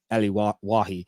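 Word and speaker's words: Elye Wahi: and surname is w-a-h-i I think it's oh pronounced uh Ellie wahi that's what Google translate pronounces that's how I didn't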